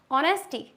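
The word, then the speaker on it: honesty: times H is silent किसी किसी में एच होता है silent for example some times we pronounce the word as if they R एच एट ऑल एच को हम silent रखते हैं जैसे कि ऑनर ऑनेस्टी आर क्या हम इसको हॉनर पढ़ते हैं नेस्टी पढ़ते हैं नो it's totally wrong is it clear honour ऑनेस्टी आर हमारा एच साइलेंट होता है ओके एक बार फिर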